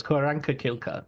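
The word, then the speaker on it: Q'orianka Kilcher: Pocahontas, who's played by Koreanka Kielker. Is that the right way to pronounce it? I'm not going to dare to correct you, but yes, Koranka Kilka, I think is right.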